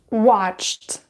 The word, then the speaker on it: watched: consonant or unvoiced consonant that is why ed will be pronounced as an an unvoiced sound which is to what watched watched all right guys so